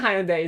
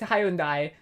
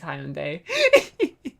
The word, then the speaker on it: Hyundai: Mitsubishi, Mitsubishi, Toyota, Hyundai. It's not even Hyundai, is it? It's Hyundai. But uh in Australia the official pronunciation is Hyundai not I think I've lost it.